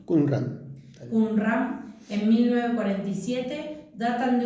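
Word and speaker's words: Qumrán: Los rollos encontrados en las cuevas de Kunran, así se pronuncia, Kunran.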